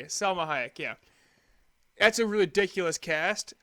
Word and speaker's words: Salma Hayek: a very famous actress Salma Hayek Jesus you sang samal totally threw me Salma Hayek yeah that's a ridiculous